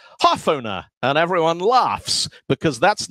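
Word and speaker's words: hårføner: Because in Norwegian, these are different letters of the alphabet. They're not just an A and an O with something extra on them.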